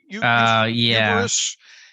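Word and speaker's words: Eberflus: How you pronounce it? Yeah. Uberus. You got it.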